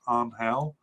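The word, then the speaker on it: Ángel: uh uh angel mena i know it's supposed to be pronounced on hell um but i'm gonna go with uh uh um no i'll try to say angel mina uh a likely candidate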